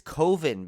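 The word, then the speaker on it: Koven: Yeah, but you kind of pronounce his name wrong. Remember, he's Coven. Yeah, it's Coven because he leads a group of people who worship Karate Kid franchise legend Martin Kove.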